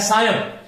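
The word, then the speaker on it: सायं: यह गलत है साथियों ये संस्कृत का शब्द है सायम शब्द था और सायम शब्द में म का प्रतिनिधित्व करता है अनुस्वार तो शब्द बनता है सायम सायम इसका उच्चारण भी आपको इसी तरह से करना है इसी प्रकार से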